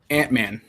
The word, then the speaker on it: Antmann: Antmann.